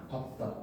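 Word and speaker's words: 밟다: 다만 밥은 어말 또는 장음 앞에서 무조건 밥으로 발음을 합니다. 밥다.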